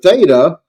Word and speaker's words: theta: So the theta, the th sound, as in thin, to thin, right?